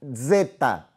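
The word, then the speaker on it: ζῆτα: Depois nós temos o zeta. Zeta. Apesar de ter uma representação fonética do Z em língua portuguesa, mas ele tem um som pronunciável de um DS, Z, como desarme.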